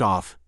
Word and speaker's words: ov: The well-known recipe for making a Macedonian Slav village bulgar is to add ov or e pronounced off y onto the names of all the male inhabitants and to make it serb.